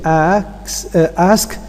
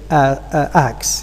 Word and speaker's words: ask: slip of the tongue instead of saying ask some people may mispronounce the word and say acts here so in general